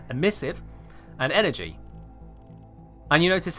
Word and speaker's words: emissive: We got the primary, secondary, tertiary, accents, emissive, that's not how you pronounce it, emissive, and energy.